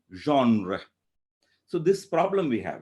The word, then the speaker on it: genre: sorry not gender genre in french it would be somewhat like zhang so in modern english we cannot pronounce it as wrong because we don't know the hara sound which is in french so the approximate thing would be genre so this problem we